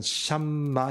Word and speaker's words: 샴마: 여기 48장에 나오는 거 보면 여기 이제 야훼 혹은 여후와 샴마라는 뜻이에요. 샴마. 중간에 미음자 비슷한 거 들어가 있죠? 저게 이제 미음 발음 나는 건데 이게 중간에 들어가 있을 때는 샴마 이렇게 나요.